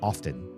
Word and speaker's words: often: collegiate and intelligent say often. And so I'm not the only one. But that T is not pronounced or should not be. And if you do, it's just an overcorrection.